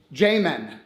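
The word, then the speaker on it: Jamen: I want to get proper J A M E N Jmen. So, I was adding a D to it. You are. But it's Jmen.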